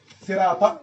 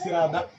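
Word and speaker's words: صراط: Sirata, il dit Sirada.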